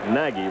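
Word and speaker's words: Nagy: a ball Association is Naggy really is it's hard not to say Naggy because it spelled like Mike negge who used to pitch for the Red Sox nag wanted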